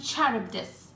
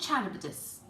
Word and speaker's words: Charybdis: of different ways, but I'm going to call these monsters, Scylla and Charybdis. I hope that's the right way to pronounce it. I've actually looked up how to pronounce it and that's how they suggest, so let's go with that.